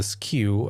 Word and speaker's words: SKU: And if you're selling your own products, then the SKU, the SKU as it's pronounced, can be whatever you want.